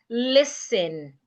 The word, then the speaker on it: listen: Examples of such words I have listen. Some people pronounce this word as listening. It is not listening. The T is expected to be silent.